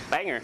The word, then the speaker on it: Bangor: show up in northern Maine Bangor and we Banger now Banger hardly nowhere no one actually pronounced as it Banger up there when I